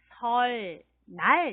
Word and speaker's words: 설날: 이렇게 쓰는데 읽을 째는 설날 이렇게 읽어야 합니다 펄 날 설날 자사 해볼까요 설날 걸 알 그래요 언니 을 받침 하고 니니 만나서 뒤에 오는 이은의 리얼로 소리가 납니다 저희 때는 이렇게 쓰면